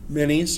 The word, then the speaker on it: Menes: And it says Menes. That's how you say it, right? Minis, yeah.